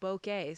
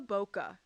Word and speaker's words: bokeh: I will say, Forrest, there is some debate on the pronunciation of bokeh.